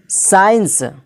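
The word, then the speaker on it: science: है तो यहां पर क्या हो जाएगा सी साइलेंट होकर क्या हो जाएगा सीजर जिसका माना होता है कैची साइंस साइंस में भी एस आया है उसके बाद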